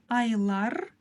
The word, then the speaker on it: айлар: Ай, айлар, айлар, айлар, айлар. В конце стоит буква «ы», но мы ее практически не слышим.